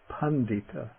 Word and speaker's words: paṇḍita: or steady tito okay the voiced retroflex da da you get this in the middle of a word the word meaning a learned person pandita pandita then the voiced